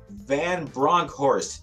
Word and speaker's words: Vanbronckhorst: the gym today we are joined by Joshua van bronkhorst did I pronounce that correctly yeah you actually got it